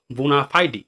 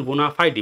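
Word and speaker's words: bona fide: বোনাফাইডি। দেখো উচ্চারণ বোনাফাইডি, বোনাফাইড না কিন্তু বোনাফাইডি।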